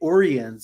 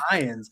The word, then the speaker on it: Orion: about the new episode too because they say orians instead of Orion and that's also from the Animated Series because